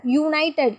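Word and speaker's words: United: இதை சொல்லி பாருங்கள், யுனைடட் யூன்னு ஸ்டார்ட் ஆகுது.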